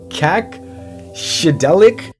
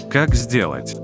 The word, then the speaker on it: Как сделать: Kak Shidelik and Vitalik Ignuktuk. Actually, my друг, that was not even slightly close. To native русский the channels are pronounced. Как сделать? And Vitalik Ignatiuk in the American language.